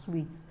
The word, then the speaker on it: suite: So you can imagine you've not learned that SUITE is pronounced as sweet.